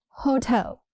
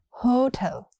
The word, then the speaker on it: hotel: Hotel, not hotel. It's hotel. Stress is on the second syllable.